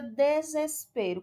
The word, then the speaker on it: desespero: Na palavra desespero, qual é a sílaba tônica da palavra desespero? Desespero. A sílaba tônica que a gente vê que é o P. É a segunda sílaba de trás para frente, a penúltima? Então ela é uma palavra o quê? Paroxítona, pois a penúltima sílaba é tônica.